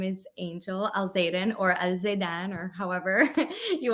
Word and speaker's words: Alzeidan: Am I saying it right? That Alzeidan? was really good. Yeah, you said it with, like, the accent and everything. That was Yeah, perfect.